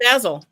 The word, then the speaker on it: Basel: Basil is Basel. Oh, so like basil, but with an A.